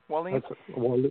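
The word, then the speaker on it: Wallen: Wallin?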